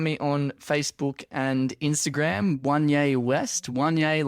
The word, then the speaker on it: Wanye: But I was still reading it as Wayne, and I'm like, what is this guy talking about? Yeah, I'm writing it. It's Wayne West. And you had to be like, no, Wanye, and like spell it out.